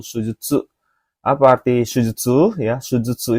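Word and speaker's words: 手術: Oke, pilihan yang benar adalah ini bacanya kanji yang nomor pilihan keempat minasa yaitu sujudsu.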